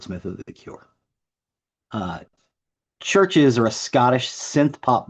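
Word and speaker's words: CHVRCHES: The next song is How Not to Drown by Churches. Church is spelled C H V R C H E S. Uh it is pronounced Churches.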